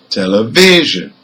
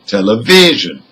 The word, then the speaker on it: television: is on number three for number three the stress is again on the third syllable because the word has four syllables and number four the